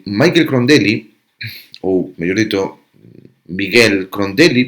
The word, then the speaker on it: Michael: Eh, Michael Crondeli ou mellor dito higuel Crondeli porque a pronunciación a nese é algo así como Miguel, unha cousa máis parecida a Miguel que a Michael.